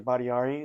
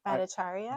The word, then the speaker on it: Bhattacharya: Badiari, is that how you pronounce his name? Bhattacharya.